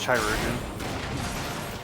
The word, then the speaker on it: chirurgeon: It's pronounced chirurgeon. You missed a syllable.